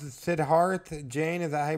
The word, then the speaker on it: Siddharth Jain: Creator mastermind behind this game how do you pronounce is Sidharth Jane as I pronounce it there we go today